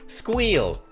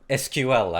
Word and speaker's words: SQL: it next we have squeal or SQL as most people like to pronounce it but squeal is more